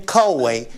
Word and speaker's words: koi: If your buyer wants that fish pond, you better write that in, 5 living koi in pond and pond to remain. Write the number 5. Koi is spelled K-O-I, and you write in the word living.